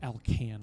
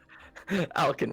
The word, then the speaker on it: Alkin: Or is it Alcan? Where do you want the emphasis to be on the syllable? It's all good. Alkin works. Alkin, okay.